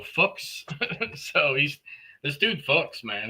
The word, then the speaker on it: Fuchs: He said it's like books, but with an F, so Fuchs.